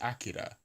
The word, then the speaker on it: Akira: But it's as I understand it, the Japanese is Akira, right, with the stress on the first syllable and the trill on the R.